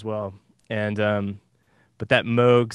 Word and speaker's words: Moog: so uh there's a a moog bass which is spelled m-o-o-g and moog as a bob moog was sort